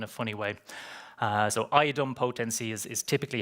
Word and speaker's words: idempotency: Uh so Iodum potency is is typically how it's pronounced.